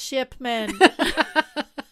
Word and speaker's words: Shipman: It's Shipman. Ship, as in like the boat.